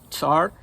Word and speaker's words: Tsar: So a Tsar in Russian, it's spelled, in Russian there's a letter TS. It's a single letter that makes the Ts sound. So in Russian it's pronounced Tsar and Tsaritsa.